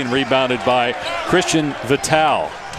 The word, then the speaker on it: Vital: Too strong on the 3 and rebounded by Christian Vital. Not Vital, your buddy. It's Vital.